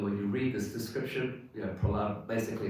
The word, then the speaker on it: Prahlada: Prahlada.